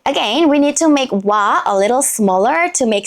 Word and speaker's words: 와: that position empty so we use ㅇ(i-eung) as a silent consonant now let's write ㅇ(i-eung) and ㅘ(wa) what letter is this? yes 와(wa) 와(wa) 와(wa) can be an exclamation in Korean it's like wah~!